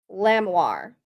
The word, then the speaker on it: Lamoire: I think it's pronounced like lamb and the part of armoire. Lamoire.